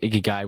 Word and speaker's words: Ikigai: Yeah, so for a little bit of context, the concept Ikigai, which you pronounced amazingly, is not something Thank that you.